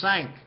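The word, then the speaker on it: cinq: but this is the number five is sank who sank the cat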